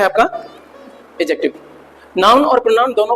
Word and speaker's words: adjective: इसमें डी थोड़ा साइलेंट रहती है बोलने पे, लिखने पे नहीं करना नहीं तो गड़बड़ हो जाएगी। लिखने पे डी रहती है बट बोलने पे एडजेक्टिव बोला जाता है। क्या बोला, देखो एडजेक्टिव पढ़ो फिर एडजेक्टिव बोलो। हाँ, तो डी साइलेंट रहती है, उस हिसाब से ध्यान रखना।